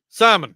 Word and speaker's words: salmon: no because it's pronounced salmon you don't you know salmon no there's no l the L is silent I'll put the Nilla